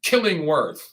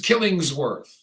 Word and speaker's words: Killingsworth: right in the nuts James Killingworth wait excuse me said it wrong James Killingsworth allegedly punched a woman